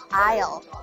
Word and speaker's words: aisle: ，好多人都会读错 aisle aisle。